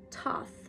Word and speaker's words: Thoth: it soft light codes Thoth pronounced Toth well not for me also known as tahuti